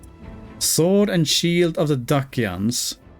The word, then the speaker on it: Dacia: Sword and Shield of the Dacians. I'm going to presume that Dacia is pronounced with the hard C here.